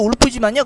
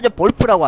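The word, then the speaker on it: Wolf: 달성했고요 그 다음 목표는 영어로도 울프지만요 독일어로 볼프라고 하더라고 진짜 그렇더라고요 왜 폭스바겐 할 때도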